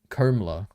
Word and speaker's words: Kamala: By the way, Kamala is pronounced Komala.